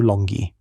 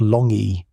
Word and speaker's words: longi: In 2021, it was named Homo longi, pronounced long-ee, the dragon man.